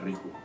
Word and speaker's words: Riju: Ryu. Bueno, Ryu, güey. Ajá, Ryu. ¿Eh? Ryu, sí. No, pero es que pues la pronunciación es Riju.